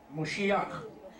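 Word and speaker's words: משיח: Okay, Mem, Shin, Vav, Chet. The final letter is Chet, pronounced Moshiach.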